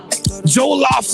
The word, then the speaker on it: Jollof: I want to get that Jolo rice. Am I even saying it right, Lorena? It's called Jolo rice? I don't know what's going on. Jollof rice.